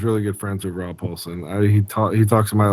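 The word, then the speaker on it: Paulsen: Would Rob Paulson, do you say his name Paulson? Yakko. Rob Paulson? Yeah, okay.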